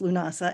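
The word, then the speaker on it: Lughnasadh: If you are saying it in Celtic, it's Lunasa, which has all those extra letters in there, but that's Lunasa.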